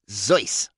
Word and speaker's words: Seuss: middle name was seuss his family was from germany and they pronounced it zoice he was an indifferent